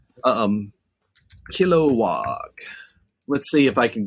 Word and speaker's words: Kilowog: see i was saying it right all earlier kilowog um kilowog let's see if i can get on the